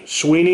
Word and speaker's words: Swinney: Clemson coach Dabo Swinney said Tuesday at the Sweeney, is that how he pronounces it?